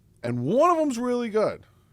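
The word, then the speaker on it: Goode: is Cameron good who for the longest time I called him good day like I'm an Australian sailor because he's his name is spelled g g o o d e and my phonetic brain was like good with an e a good a I'm dumb I obviously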